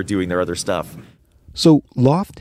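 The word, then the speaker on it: L0pht: their other stuff so Loft heavy Industries that's spelled l0 PHT was the Boston equivalent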